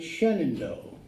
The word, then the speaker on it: Shenandoah: smart I am but in Pennsylvania they call it it's up in the frac Ville Pottsville Area and they call it Shenandoah even though it's spelled just like the Shenandoah Valley and the Shenandoah Mountains and so I'd mispronounced